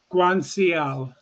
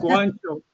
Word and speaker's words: Guanciale: That's the way she pronounces it, Rick. Yeah. Which is? Guanciale. Guanciale. So, you've got to I'm sorry. It's Guanciale. She pronounces it Guanciale.